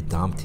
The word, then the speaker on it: dumped: 푸크트 이런 단어 다음에 나오는 과거분사 형태의 ed는 dumped가 아니고 트로 발음돼서 dumped.